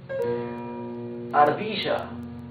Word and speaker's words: ardilla: Ardilla or ardilla. Ardilla. Ardilla means squirrel. You can see r. It's a smoother sound.